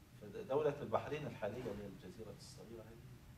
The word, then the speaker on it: البحرين: مدن معروفه قاعدتها هاجر وهكذا ينطق به بلفظ التسميه البحرين يعني اسمها هكذا والنسبه اليه بحراني بحراني الان كان المعاصر يعني اهل البحرين فيهم سنه وفين الشيعه الرافضه وكده لان اهل السنه يقولون بحرين بالياء الرافضه يقولون نسبه قديمه